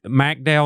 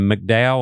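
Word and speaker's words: McDowell: other or how do you say it personally? I say Mcdow. Uh I just think it's preference. I mean, I it it's tomato tomato, right? pick one.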